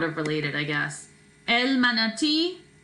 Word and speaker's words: manatí: El manatí, basically pronounced the same way with a little bit of a stress on the end. El manatí.